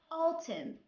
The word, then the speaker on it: autumn: When N comes after letter M at the end of a word, N here is silent.